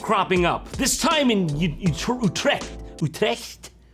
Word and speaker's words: Utrecht: Utrecht. There it is. That's it. That's the one. That's the official it.